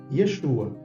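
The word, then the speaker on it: ישוע: é a língua portuguesa agora em hebraico Yeshua Nós estamos vendo aqui yod a letra iod ou iud ela é uma consoante tá E temos aqui a vogal cere que é como se fosse um e embaixo então consoante vogal bem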